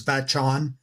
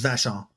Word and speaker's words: Vachon: I'm pronouncing you would think it was Vachon, but it's Vachon.